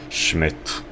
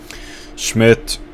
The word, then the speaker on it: Schmidt: you don't pronounce yeah you don't pronounce the d as a d you pronounce it it's just t and so the d